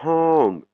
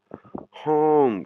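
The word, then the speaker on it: ห้อง: Donc du coup, quand on la prononce, on a l'impression qu'on se bouche le nez.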